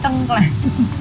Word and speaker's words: tengkleng: Dan bacanya bukan tengkleng tapi tengkleng.